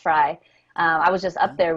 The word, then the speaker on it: Frey: It's actually pronounced Fry.